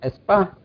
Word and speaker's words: ESPA: with es ESP meeting what you pronounce it espa okay espa meeting so then I went